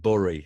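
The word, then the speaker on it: Bury: from a place called bori they pronounce it burry and it's about B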